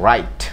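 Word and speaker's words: write: ওকে, তাহলে ডাব্লিউ আর আই টি, রাইট। রাইট তো লেখা, দেখেন এখানে রাইট রাইট বলতে ডাব্লিউটা সাইলেন্ট রয়েছে।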